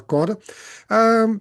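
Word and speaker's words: Chora: Até a pronúncia correta a gente acaba aportuguesando um pouco, mas pelo grego ali vem como ora, né? Alguns até quando fazem uma transliteração do nome dessa vila, eles tiram o K, deixa só como ora.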